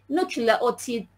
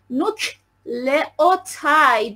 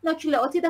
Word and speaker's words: نوکلئوتید: تلفظش کنین، نوکلئوتید. حالا شاید بعضیا با انگلیسی راحت ترن، بنویسم یه جای دیدی بدونن چقدر شما باسوادی. نوکلئوتاید میخونن، نوکلئوتید خودمون فارسی هیچی نیست، من در همین حد